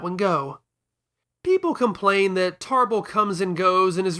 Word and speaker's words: Tarble: approximate a rhotic r, like how Zabon is Zarbon, Vegeta's brother is Tarbal. And that spelling, in addition to calling attention to the modified vowel sound, rather conveniently sidesteps the inclination to pronounce his name as table.